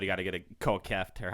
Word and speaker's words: Kieft: after this episode, But- you got to get a Kieft, or how do you say it? Kieft.